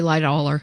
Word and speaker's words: Lightoller: sure you're saying it right yeah I'd say Lightoller ly dollar he was or I was 38